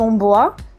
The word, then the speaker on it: Ohmboa: soi à la maison normalement ça se prononce mon beau à ça vient du doigt la qui est un dialecte camerounais parce que je suis